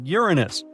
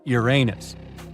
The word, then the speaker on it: Uranus: Actually, astronomers say we should be pronouncing it like Uranus, not Uranus. I can't say a different stress changes much though.